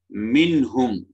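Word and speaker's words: منهم: அப்ப இதுல நாங்க என்ன இப்ஹார்ல ஹா ஹா இந்த ஹான்றது இங்க என்ன தொண்டை வரக்கூடிய உச்சரி வெளிப்படக்கூடியது. மின்ஹும் அப்படி நாங்க இது ஓதுவோம். மின்ஹும் என்று ஓதுவோம். மின்ஹும். மின்ஹும் அப்படி ஓதுறது இல்லை, மின்ஹும்.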